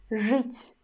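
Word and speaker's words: жить: Word żyć, żyć, żyć. You see, in this word, we've got vowel letter e, but we still pronounce ż as a hard, and then we pronounce u, żyć, żyć, żyć.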